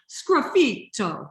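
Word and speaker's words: sgraffito: you do this technique it's called scruffito okay and you can say it like i do scruffy toe like you're swearing right the italian translation high in translation like so there's so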